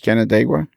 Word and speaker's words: Canandaigua: Canandaigua can how do you say it British Canandaigua that's correct yeah John Armstrong was born and